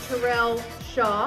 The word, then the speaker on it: Terrell Shaw: special guest here tonight, Mr. Terrell Shaw. Did I say it right? Good.